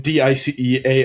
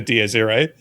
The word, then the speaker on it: Dies Irae: dice array as in DICEARRAY. And I was like, what the fuck is that? DS Ray? Is that what you mean? It's Latin, so it would be whatever Yeah. the Latin pronunciation is.